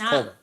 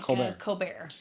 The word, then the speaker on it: Colbert: Excuse me. Colbert. Yes, Colbert. Not like Colbert.